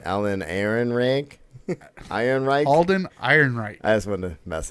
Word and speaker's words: Alden Ehrenreich: Alden Ehrenreich.